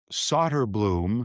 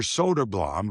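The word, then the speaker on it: Söderblom: Arvid Solderblum is how it's pronounced in Chicago. It's Elmer Soderblam, who's since been moved on by the Red Wings, and they're brothers. Mhm. So, we've got it right because we asked Elmer, and I have him on tape saying it.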